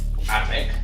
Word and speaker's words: Ardbeg: Ardbeg, correcte. Ho he pronunciat tots molt bé. Ardbeg.